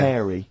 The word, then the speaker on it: hairy: Sorry, I noticed both of you there dropped the H, or the H, or however it's I pronounced. had to. So airy, obviously kids, mean yeah. hairy, hairy children, not sort of airy, kind of light-headed or...